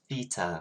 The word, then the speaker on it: theta: we say as well that's me saying it with an english accent it is theta my lovelies you should say it right now say theta theta theta so that's the greek letter theta okay um if i say theta that's my accent not how you actually say it that's theta for you